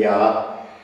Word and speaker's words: Yah: So we moved to pronounce the name Yah. And Yah is a good name that we can use because you always find it in Hallelujah.